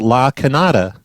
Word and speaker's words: La Cañada: for desert homes or la canada in arizona is is pronounced la cañada or Kenyatta or something like that that's crazy I've been